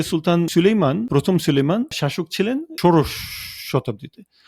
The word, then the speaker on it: Süleyman: দেখতে পাচ্ছি সুলতান প্রথম সুলেইমানকে মানে আমরা তো বলি সুলাইমান তুর্করা উচ্চারণ করে সুলাইমান হিসেবে উনাকে ইংরেজিতে বলা হয়